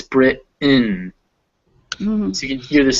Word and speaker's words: Britain: instead of mountain hence instead of britain it's brit in so you can hear